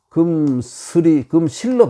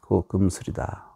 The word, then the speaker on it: 금슬: 근데 우리나라에서는 금실로 바뀌어버렸어요. 사전에 금실로 올라있지만 원래 발음은 슬, 금슬이다.